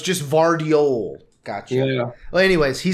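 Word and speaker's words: Gvardiol: The one issue is the G is silent, so it's just Vardiol. Oh, it's Vardiol.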